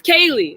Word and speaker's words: Kali: It's Kaylee. It's Kaylee, not Callie.